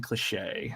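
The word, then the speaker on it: Klee'shae: kle e sh AE Captain cliche is is how I'm assuming she pronounces her name um she's the silent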